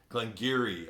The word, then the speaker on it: Glen Garioch: I got Glengarry out of that that's a Glen Geary I think more gear instead of gear this